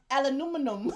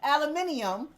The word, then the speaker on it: aluminium: Nah, cause aluminum, whatever the fuck. Aluminium. If you spell it, aluminum.